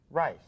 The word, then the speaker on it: rice: a turn raw rice rice the e makes the I long and a C sounds like s because it's followed by an e we're here it rhymes with ice so I can take